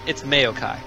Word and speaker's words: Maokai: It's Maokai, by the way, like mayonnaise. Like mayonnaise, it's Maokai.